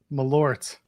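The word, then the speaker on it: Malört: Malort? Malort. Is that how it's said? Yeah. Yeah. Malort. Malort. There's like an accent over the O. Are you sure it's not more lort?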